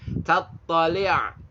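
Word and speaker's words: تطّلع: Biasain kalau ain itu suaranya dari tenggorokan, bukan dari hidung. Ya, bukan tatoni, tatoni, toni, toni. Nah, itu hidung. Tattali', li', tattali'. Ain dari tenggorokan.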